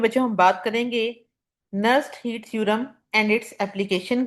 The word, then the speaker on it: Nernst: ये theorem nursed heat theorem बच्चे, इसके अंदर जो वर्ड है एन आपका ये साइलेंट है, इसलिए इसको लिखा तो जाता है बट इसको प्रोनाउंस नर्स्ड हीट थ्योरम के नेम से किया जाता है।